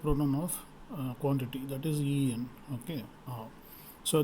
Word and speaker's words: y: of quantity that is en okay so this y or we pronounce it as e it is called the